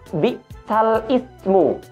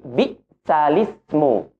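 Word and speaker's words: بئس الاسم: Terdapat kalimat bi'sal ismu yang kita baca dengan bunyi bi'sal ismu.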